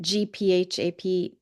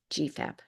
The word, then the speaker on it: GPHAP: We pronounce it GPHAP. The PH sound is with an F, so GPHAP, graduate program in health administration and policy.